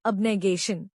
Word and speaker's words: abnegation: इसका प्रोनाउंसिएशन है अबगेशन।